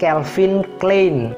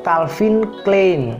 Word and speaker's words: Calvin Klein: brand ini sering kita sebut sebagai calin clin atau Calvin Klein Nah originally itu pembacaannya Calvin Klein Calvin Klein Calvin Klein Calvin